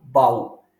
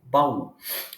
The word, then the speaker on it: baú: de sa da ba u e não Bau a gente não lê Bau a gente lê baú muito bem o que